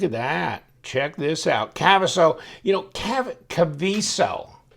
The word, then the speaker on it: Kaviso: I want to call it Kaviso. I think he was trying, the guy at Kaviso was like, please, K-A-V-E-E, you know, it's not spelled that way, but phonetically. Okay, Kaviso.